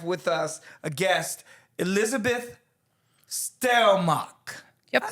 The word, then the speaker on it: Stelmach: We have with us a guest, Elizabeth Stelmach.